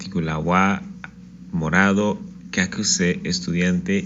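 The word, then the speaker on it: は: Ese wa, esta letra que decimos que es la partícula wa, en realidad es la letra ha de la familia ha de hiragana.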